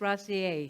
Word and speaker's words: Rosier: Her last name is spelled Rosier. Denise Rossier.